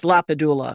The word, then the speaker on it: LaPadula: It's LaPadula.